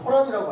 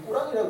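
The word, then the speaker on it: قرآن: 보통 우리가 코란이라고 알고 있는데 발음이 꾸란이라고 그래요.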